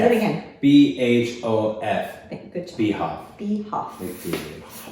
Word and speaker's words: BHOF: BHOF. Good job. BHF. BHF. Like the huff. But with a B.